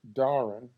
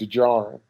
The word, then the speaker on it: Djarin: It's Din Djarin, but the J is silent, which is why I want to keep calling him Djarin.